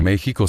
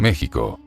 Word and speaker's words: México: ¿Por qué México se escribe con X y no con J? ¿Y qué significa la palabra México? La palabra México. México se escribe con X, aunque suene a J, desde que el nombre